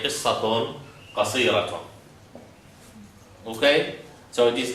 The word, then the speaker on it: قصيرة: Now, So the last one always pronounces ta. Because closed, so not ha. no, it is ha when it is sukun. Only fatat. Oh. Only this, if it has sukun, it is qasira.